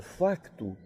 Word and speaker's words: facto: mas por exemplo na na palavra facto o ser é pronunciado sempre foi pronunciado lá lá sim e por nós outros nunca agora ele os portugueses distinguiam tanto na fala quanto na escrita o facto nós outros no Brasil não pronunciamos este ser ser para nós sempre foi mudo e daí ter preponderado